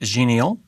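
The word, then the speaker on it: Xenial: And then Ubuntu 16.04, which I believe is pronounced genial.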